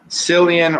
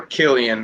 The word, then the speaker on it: Cillian: Cillian or Killian Murphy, however you want to say his name.